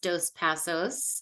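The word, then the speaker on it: Dos Passos: hi everyone I'm my last name is pronounced dos pasos I have been in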